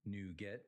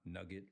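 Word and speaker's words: NuGet: Now, it's pronounced new get, not nugget, like chicken nugget.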